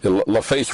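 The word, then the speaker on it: LaFace: it was a great time in the industry laf face records I'm pronouncing that right right out of Atlanta yeah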